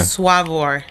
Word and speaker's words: Swavor: funny because it doesn't it's a regional pronunciation so for me it's it's swaver right swaver so i can say that but then i've met people that are from like different places and they're just just as passionate about saying it as suave and i'm just like